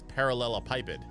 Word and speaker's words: parallelepiped: Merriam-Webster says it's parallelepiped.